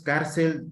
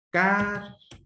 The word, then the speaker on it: cárcel: Por ejemplo, cárcel. Ya, son dos sílabas. La última sílaba es el. ¿Sí? Por lo tanto, esta es la que está tildeada. Y esa es la sílaba de mayor intensidad. Cárcel. Termina en L, la tildeo. ¿Sí? Cárcel. Termina en L, le pongo tilde.